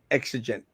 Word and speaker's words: exigent: Oh, and it's pronounced exigent.